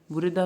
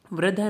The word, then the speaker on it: वृद्धा: फिर इसमें वृद्धा, वृद्धा में बूढ़े, वृद्धा का अर्थ हो जाएगा बूढ़े। वृद्धा नहीं है, ये वृद्धा है, ठीक है, री पढ़ते हैं इसको, वह के नीचे री की मात्रा होती है, वृद्धा बूढ़े।